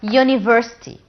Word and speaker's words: university: have here the word university university what's a university in gama the beginning letter here is you it's one of the vowels but did i pronounce it as ah no it's you university you university so